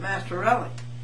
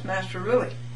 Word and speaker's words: Mastrorilli: She calls it Mastrorilli. It's Mastrorilli. This court, I guess it's telling you that from the beginning this court has misspelled her name.